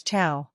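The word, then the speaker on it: ciao: chiao in casual situations pronounce Chia as chiao this is one of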